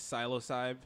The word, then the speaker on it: Psilocybe: how do we say this name say it's psilocybe okay I don't know I'm just gonna pronounce it heard people say selasa p learn how to read forget about it when